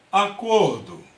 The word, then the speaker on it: acordo: Qual é a sílaba tônica? Aí você chama a palavra. Acordo. Olha só, o cor ele soa com mais força, né?